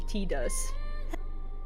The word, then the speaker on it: Tidus: So in my language, it would be Tidus. Because it's E and not I.